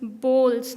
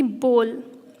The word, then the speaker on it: bowls: then in the kitchen you use bowls not boughs people usually call this boughs because of the oh and the W in between but it's actually bowls and this is pizza